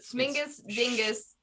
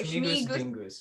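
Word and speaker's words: Śmigus-dyngus: I can't pronounce the accented S, but Smingus Dingus. Oh, Schmigus Schmigus. dingus.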